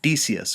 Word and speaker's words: Decius: and v's in latin the proper pronunciation is always a hard c though since we are in the habit of speaking english we call emperors like decius we usually call him d desius or decius um that's